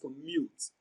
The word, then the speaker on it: commute: Commute is pronounced and broken down into syllables as commute. Mute receives the stress. It is pronounced louder and longer.